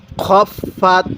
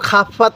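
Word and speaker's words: خفت: টান দিবেন আরেকবার পড়ুন আম্মা খফাত কেউ খাফফাত পড়বেন না ঠিক আছে পড়ুন খফাত খফাত মাওয়াজিনুহ মাওয়াজিনু হ্যাঁ পড়ুন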